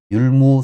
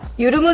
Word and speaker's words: 율무: 율무 스킨 클린 팩, 이렇게 하게 되면 율무 스킨 클린 팩이라고 정확하게 발음을 합니다. 제가 어제 이렇게 해서 계속 만들었거든요. 그럼 다시 한번 봐볼게요. 모공을 빨리 깨끗하게 하고 싶을 때 이거요. 유르무 스킨 클린 마스크.